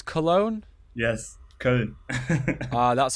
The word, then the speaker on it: Köln: Yes, Köln. That's how you pronounce it properly. Yeah. It's with the O with the 2 dots, Köln.